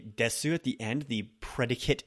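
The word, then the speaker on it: です: is going on with the oo sound at the end of des. Desu is usually kind of left off, that little oo at the end.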